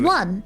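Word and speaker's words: Wan: Hello, I'm Shopkeep One. Shopkeep One? That's My a name is very One. interesting name. Your name is One.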